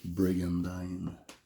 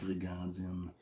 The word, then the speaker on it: Brigandine: Et oui, ça se prononce Brigandine. Et non fucking Brigandine.